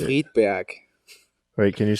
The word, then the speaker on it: Friedberg: Friedberg. Wait, can you say it again? Friedberg. Friedberg? Friedberg. Oh, nice. It's Uh, back in the throat. do you think anyone in Friedberg Yeah, has ever been on a podcast before?